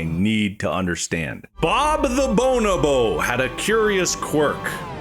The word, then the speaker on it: bonobo: Bob the Bonobo had a curious quirk. Do you mean bonobo? A bonobo. Bonobo. Bonobo. I think you said Bob the Bonable. I hate the way you say that word so much.